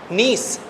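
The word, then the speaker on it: gneiss: आप लोग को देखि अंग्रेजी में लिखते हैं नीस ऐसे जी साइलेंट है इंग्लिश वाले थोड़े से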